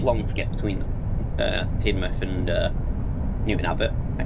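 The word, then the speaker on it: Teignmouth: It's pronounced Tinmouth.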